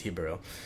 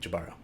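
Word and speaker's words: Jíbaro: And I think technically the Spanish pronunciation is Jibaro. And Alberto is Spanish, so he would always say Jibaro. But then most other people, especially in the States, say Jibaro, which I'm sure he's fine with.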